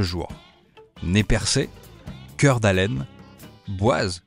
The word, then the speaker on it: Boise: né percé cœur d'haleine boise que l'on prononce boys ou encore paillett et